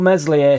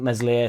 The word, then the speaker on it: Meslier: increasingly light there will meslier silent s start the more I think about it the more I think meslier silent s is starting